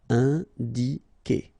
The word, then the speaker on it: indiquer: All right, keep in mind that when you get this Q and U after, and obviously a vowel, then U is not pronounced at all. Okay, so it's K here. You don't pronounce the U. Indiquer.